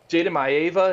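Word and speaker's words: Jayden Maiava: Jaden Maeva, is that how you say it?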